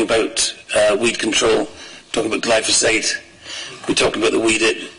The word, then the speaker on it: glyphosate: I would just say in the pronunciation, I think we've got to get this right. It's glyphosate.